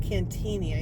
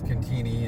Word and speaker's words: Cantigny: It's pronounced Cantigny, I think, but a lot of people call it Cantigny.